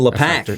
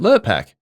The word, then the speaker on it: Lurpak: Yeah, it's buying LePac. Yeah, the dog. exactly. But yeah. Lurpak? LePac. That's the fancy one. That's the fancy photo. That's not how you say it. How do you say it? Lurpak.